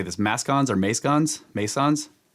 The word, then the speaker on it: mascons: Mascons or mascons?